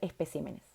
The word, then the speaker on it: especímenes: encanta esta lista porque estas palabras son las únicas palabras del español que estando en plural van a cambiar el lugar de su sílaba tónica en singular carácter en